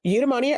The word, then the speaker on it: eudaimonia: So eudaimonia herbs.